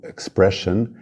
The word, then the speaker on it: expression: i o n ou Expression com ss i o mas a pronúncia é shan shan como xa xa shan já equation t o